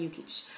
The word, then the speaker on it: Jukic: that's my name Rosalind yukich um but I spell it out because my last name is foreign and so it's not phonetic not phonetic in the English language that is so um